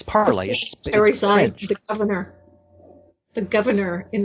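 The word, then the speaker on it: Parler: half of their consumers won't be able to pronounce. So that's a bonus. It's Parlay.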